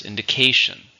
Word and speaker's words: indication: is a countable noun how many syllables indication for stresses on the third syllable there was no indication